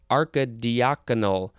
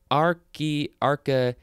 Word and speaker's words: archidiaconal: So maybe it is archidiaconal. Anyway, let's see. Oh no, it is archy, because that's what the pronunciation guide says.